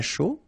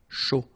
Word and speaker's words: chaud: All right, so un cappuccino, not really difficult to produce, un chocolat chaud, remember CH, chaud, chocolat, and then final T not pronounced, chaud, final D not pronounced, un café glacé, un